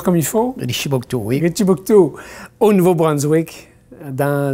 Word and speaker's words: Richibouctou: Est-ce que je le prononce comme il faut? Richibouctou, oui.